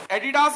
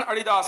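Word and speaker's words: Adidas: संत बाबा अडिदास के नाम पे बनी हुई कंपनी पैरों में एडिडास के, एडिडास ही बोलते हैं वैसे, अडिदास होता है, रियल उच्चारण अडिदास है।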